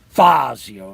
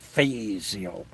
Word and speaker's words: Fazio: You got the name wrong, Scott. It's Fazio, not Fazio.